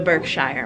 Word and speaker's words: Berkshire: Not the Berkshire Mall.